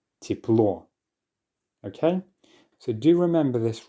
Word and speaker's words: тепло: So just like with the or that I keep talking about, the letter Ye also gets reduced when it's in an unstressed syllable. So because it's the or in this word that is being stressed at the end, the first syllable, tiep, is therefore unstressed and the ye is going to be reduced. Тепло.